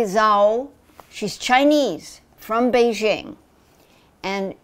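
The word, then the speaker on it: Zhao: up who is Chloe let me pronounce her her last name correctly Chloe Zhou she's Chinese from Beijing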